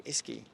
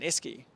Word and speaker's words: Esky: a uh like a how do you say Esky ski like like what's it what's like a